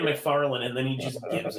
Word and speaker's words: McFarlane: I'll do McFarley. Of course, I'll do Ditko because he. Why do you pronounce he's his good. name McFarlane? Yeah, McFarley. McFarlane. It's McFarlane. McFarlane with the N.